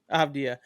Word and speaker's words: Avdija: How do you pronounce it? Avdija.